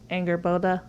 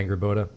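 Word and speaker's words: Angrboda: Angerboda. Yeah, Angerboda. Yeah. I think that's how you pronounce it.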